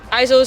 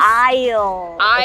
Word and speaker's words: aisle: seats or window seats ISO seat or window seat oh very close aisle the S is silent okay good try a